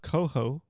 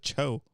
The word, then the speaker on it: coho: Captain Dad said it's pronounced coho. I got it right. No, you said cho.